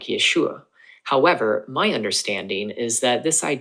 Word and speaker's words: Yeshua: The yod and Sarah together make Yeh, hence Yeshua.